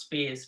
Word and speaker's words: Spies: Well, my name is pronounced Spies, but I'm mispronouncing my name when Walgreens wouldn't understand me on the phone. I'm like, you know what? It's Spies. I'm like, it's the plural of bond.